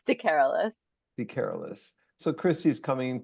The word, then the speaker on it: DeCarolis: We have Christie with us here, and I'm going to mispronounce it. DeCarolis. Help me, Christie. It's DeCarolis.